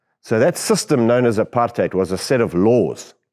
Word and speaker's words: apartheid: what that word means apartheid that's how you say it not height hate apartheid the last four letters of the word apartheid are a suffix like Ness in English so you have goodness